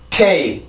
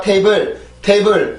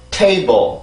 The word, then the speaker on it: table: table, table, table, table, table. 다시 한번 table, table, table. 네, 이렇게 해서 발음을 해주시면 돼요. 절대 이 단어가 table 이런 단어가 아닙니다. 항상 table 이렇게 해서 발음을 해주셔야 돼요.